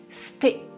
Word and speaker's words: c'était: Il ne prononce pas c'était. pareil, il contracte, il prononce sté, sté.